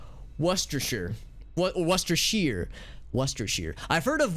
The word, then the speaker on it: Worcestershire: so it's so it's worcestershire worcestershire worcestershire i've heard of warchester or like hold on let me think about this there's an extra syllable that you don't say out loud in that word as i understand it